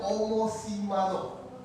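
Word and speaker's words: ὁμοθυμαδόν: Esta es una palabra en griego Esta é uma palavra em grego que se pronuncia homosimadó.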